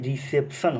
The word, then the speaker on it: reception: देखिएगा कि सी के बाद सर ई आया है, सी के बाद ई आया है, और जब भी हम आपको बताए हैं कि सी के बाद ई रहे, आई रहे, वाई रहे, तो सी को क्या पढ़ेंगे हम लोग, सब पढ़ेंगे। तो पूरा का प्रोनाउंसिएशन क्या हो जाएगा, रिसेप्शन हो जाएगा।